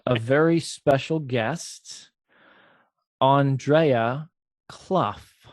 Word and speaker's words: Clough: very special guest andrea clough like tough she's tough like tough c-l-o-u-g-h common spelling and andrea uh now